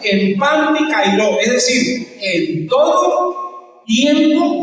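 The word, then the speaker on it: ἐν παντὶ καιρῷ: La palabra se pronuncia algo así, empantikairos. ¿Recuerdan ustedes esas medias que vendían antes? ¿Sí? Las medias panty que usaban las viejitas. Esa es la palabra que se usa, empantikairos, es decir, en todo tiempo usted debe orar.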